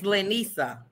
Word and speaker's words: Lanissa: call her that again my name is lanissa okay laniesa okay thank you i always tell you how to correct me if i say your name wrong cause somebody who's standing with two ends i'm like i don't know who that is i have one in the middle my daddy wanted me